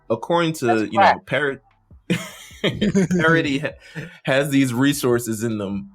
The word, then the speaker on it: Paradis: team mikasa and training parody i always say if you're american you say paradise we're going to let it slide because you know paradise the s is silent that's the sound yes